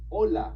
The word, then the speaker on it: hola: First of all, you know the one we learned a while ago when we were talking about pronunciation with the H. Saying hello to somebody is simply hola.